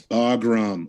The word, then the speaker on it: Bagram: Oh, I know I mispronounced. It's Bagram.